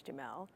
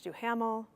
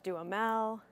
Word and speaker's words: Duhamel: at lip service was find out how to pronounce Josh Duhamel's name. I thought it was Josh Duhamel, but the other people told me it's Josh Duhamel, Josh Duhamel.